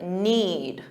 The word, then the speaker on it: knead: Now notice the pronunciation of knead. What does it sound like? The verb to knead.